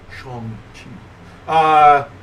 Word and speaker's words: Shang-Chi: So with the Eternals, I'm not gonna see Shang-Chi because that's how you pronounce it, by the way. All right. Not Shang, Shang-Chi.